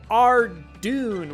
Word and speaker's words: Tirannwn: Let's talk about everyone's favorite golden boy, Tirannwn, which is the official pronunciation, by the way.